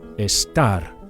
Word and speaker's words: estar: or temporary states, is estar. Make sure you emphasize the second syllable, the AR, the last syllable.